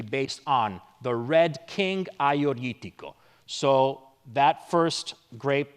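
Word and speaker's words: Agiorgitiko: going to be based on the Red King Aioritico. So that first grape right here, pronounced Aioritico, is the king of red grapes in Greece in general.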